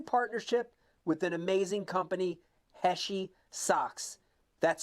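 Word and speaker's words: Heshi: our brand new partnership with an amazing company heshy socks that's spelled h e Shi socks go to heshy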